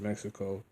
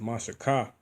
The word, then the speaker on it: Mexico: it mexico which is not ever actually even pronounced mexico uh it's actually pronounced mashika which sounds like mashayak and uh but that's